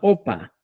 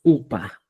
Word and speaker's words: upa: Ahora, lo que decían, por ejemplo, Jupa, Upa, Opa. Opa, gobernador, dicen. Y como decimos, upa, la expresión correcta es upa.